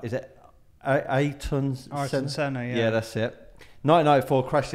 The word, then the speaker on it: Ayrton Senna: I can't always pronounce his name right. Is it Ayrton Senna?